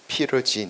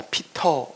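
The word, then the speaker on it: Peter: 제가 진씨니까 피루친, 피러진 이렇게 불렀어요. 근데 한국에 갔더니 발음을 피러라고 안 하고 다 피터 이렇게 발음을 합니다.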